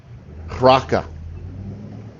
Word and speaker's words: Raca: used that word, and I'm trying to say the pronunciation the way that I heard, the way that I heard it pronounced in my Blue Line Bible on my phone app, because I figured they probably have a better idea of how it originally sounded. But they say Raka, and it's Raca, but